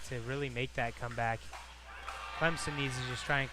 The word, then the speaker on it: Clemson: where out where I'm from you can't say Clemson it's Clemson and you know better than most from where